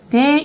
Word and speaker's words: day: 그 다음에 day 이것도 한 번에 읽어주셔야 돼요. day 이렇게 이음절이 아니라 day 이름절이에요.